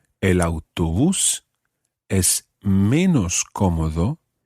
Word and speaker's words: menos: In Spanish, the word for less, the opposite, obviously, of more, is menos. And that's spelled M-E-N-O-S.